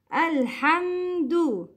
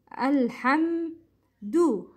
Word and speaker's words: الحمد: Al-Hamdu. Al-Hamdu. It's du, not do.